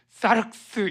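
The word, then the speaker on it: σάρξ: 육체란 헬라어로 어 저게 사르륵스 이렇게 발음을 해요.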